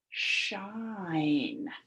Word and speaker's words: shine: That's a short I sound, and we need a long I sound because we notice the Magic E.